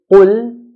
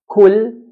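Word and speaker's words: قل: Qaf, when we pronounce it in a heavy manner, as in qul, qul means say. If we pronounce qaf in a light manner to make it sound like a kaf, kul, kul, this changes the meaning from say to eat.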